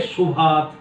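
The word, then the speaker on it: ऽशुभात्: ना, अशुभात, मोक्ष से शुभात, उच्चारण तो हम शुभात करेंगे पर खंडाकार लगा दिया मैंने अशुभात।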